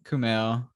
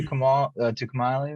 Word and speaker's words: Kumail: Hey, shout out to Kamali Nanjiani. I think Kumail.